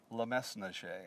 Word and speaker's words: Le Mesnager: of thought on that there are those that pronounce the S and those that don't pronounce the S I was taught lemaise mache so I pronounce the